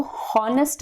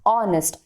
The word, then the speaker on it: honest: ठीक है, तो आप प्रोनाउंस जब करते हो ऑनेस्ट को तो वो हॉनेस्ट नहीं करते हो, आप क्या करते हो, ऑनेस्ट.